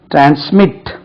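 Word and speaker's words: transmit: trample trample ட்ராம்ப்ளிங் right ட்ரான்ஸ்மிட் second இரண்டாவது syllable ட்ரான்ஸ்மிட் அப்படின்னா மாற்று அனுப்பு இங்க இருந்து ட்ரான்ஸ்மிட் பண்ணு ட்ரான்ஸ்மிட் ட்ரான்ஸ்மிட் right second syllable is டு பி அக்சென்டட் அக்சென்டட் ட்ரான்ஸ்மிட் டிஆர் ஏன் எஸ்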